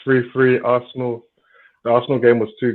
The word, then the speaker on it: Arsenal: You have to pronounce it right. It's Arsenal.